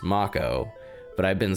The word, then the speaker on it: Mako: that were used like Mako I called this Mako for over 20 years with no external context to verify the correct pronunciation the same goes for character names and